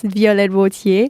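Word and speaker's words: Violette Wautier: English mm-hmm she's like I always know how to pronounce it in French you know this is like my real name it's violet would hear yeah but I have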